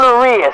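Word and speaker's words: Urías: Ramon Urias.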